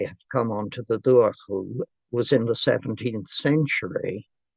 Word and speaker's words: Dobhar-chú: Dobhar-chú. Oh, yes. That's not too bad. Dobhar-chú. Dobhar-chú, yes. The first bit actually can be pronounced Dobhar-chú. That's the way they pronounce it in Cork.